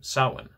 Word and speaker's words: Samhain: which is called uh samhain oh it's spelt like sam wayne is spelt really differently but it's pronounced sawin